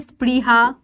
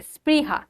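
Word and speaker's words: স্পৃহা: যখন তুমি বলবে স্প্রিহা যখন তুমি বলবে স্নেহা এই যে স গুলো আসছে এই স গুলো তুমি উচ্চারণ করতে পারবে এটা তালব্য এর মত উচ্চারণ হয় না তালব্য সর থেকে আলাদা হয় দাঁতে থাকে স্প্রিহা মানে হালকা একটুখানি টাচ থাকে স্নেহা তাহলে সটা ঠেকছে দাতে তাই জন্য দন্ত স হচ্ছে এটা আর বলছে কি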